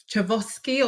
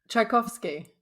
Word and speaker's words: Tchaikovsky: The Tchaikovsky, that's the one. In the same way we spend the time, because if you look at the way that name is spelt, it is not how it's pronounced, okay?